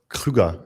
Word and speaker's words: Krüger: And I didn't say it the full German way, so you pronounce it for me. Krueger, like it sounds to you.